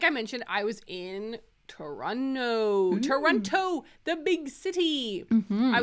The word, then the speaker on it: Toronto: we know it's pronounced Toronto but we think it's funny to say Toronto Toronto I like to pronounce all of the t's instead of saying TR